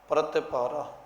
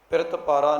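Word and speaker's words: ਪ੍ਰਤਿਪਾਰਾ: जान करो प्रति पारा प्रत पारा नहीं इसन पढ़ना प्रत पारा क्योंकि पपा ते रारा पहला है ते तते न सिहारी बाद दे विच जाके लगी हुई है इसलिए इसका उच्चारण आवेगा प्रति पारा पपा ते रारा मुक्ता है ते तते न सहारी लगी होई इस इसका उच्चारण करना है प्रति पारा के प्रभु जी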